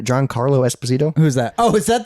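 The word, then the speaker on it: Giancarlo Esposito: John Carlo did I say his name right John Carlo Esposito who's that oh is that the guy from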